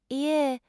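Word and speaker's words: いいえ: Pronounce it ie with the emphasis on the first syllable.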